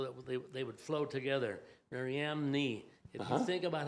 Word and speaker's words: Mariamne: And if you think about M is with your lips and N is with your tongue, it flows real good.